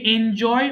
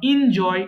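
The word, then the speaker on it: enjoy: ইড এনজয় উপভোগ করা এটাকে এনজয় অথবা ইনজয় দুটোই বলতে পারেন অর্থাৎ এন ও বলতে পারেন ইনও বলতে পারেন বোথ আর কারেক্ট ওকে সো এনজয় উপভোগ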